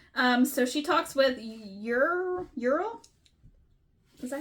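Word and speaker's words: Uriel: Um so she talks with Ural. Is that how you say his name? Urell. Ural.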